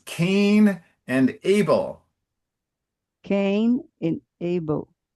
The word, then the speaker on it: Cain: Um, Caim e Abel.